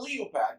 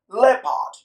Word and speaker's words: leopard: you have people pronouncing this word as a leopard no the right pronunciation is leopard it's only by the word many education education